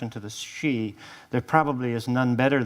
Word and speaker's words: Sidhe: So traditionally, the Shee, S-I-D-H-E, which of course I pronounce Sidhe, for a long time to John, who finally reminded me, or he finally corrected me.